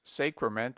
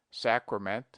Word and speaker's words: sacrament: He invariably says sacrament and sacrifice with a very long A, but analogy is against him. We pronounce sacred with A long, sacred, but the derivations are properly pronounced with A short, sacrament, sacrifice.